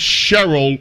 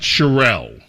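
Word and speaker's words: Sherrill: It's Cheryl, not Charelle. Man, I get confused with this bro. This woman, the governor's name. It's Mikey Cheryl. Mikey Mikey Cheryl.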